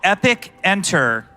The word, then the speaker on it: Epicenter: This one is called Epic Enter.